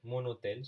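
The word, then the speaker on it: mon hôtel: a or Ash mu so even if an H is silent so my hotel if you want to say my hotel I mean hotel is already masculine so you would only say monotel so fine fine so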